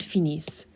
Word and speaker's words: finissent: And in this case of ending with the ISS, ENT, remember that your ENT is silent, so you will not hear that.